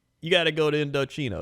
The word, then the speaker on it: Indochino: Indochino.